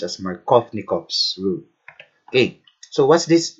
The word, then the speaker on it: Markovnikov: follows markovnikov's rule so markovnikov's so it's actually pronounced as markovnikov's rule okay so what's this rule all about